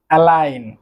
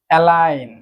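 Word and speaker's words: align: প্রথমে যেটি রয়েছে সেটি হচ্ছে অ্যালাইন। অ্যালাইন সারিবদ্ধ। আপনারা খেয়াল করে দেখবেন জি যে লেটারটি রয়েছে এই জি এর উচ্চারণ কিন্তু হচ্ছে না।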